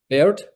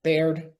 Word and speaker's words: Baird: how do I pronounce your last name properly? Baird.